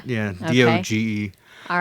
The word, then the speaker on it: Doge: dog, but said Doge. Yeah, Okay. Doge.